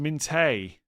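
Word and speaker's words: Minteh: It's pronounced Minte.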